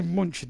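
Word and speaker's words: München: munich or has he put it by munching that's the german um that's the german pronunciation of munich anyway here come by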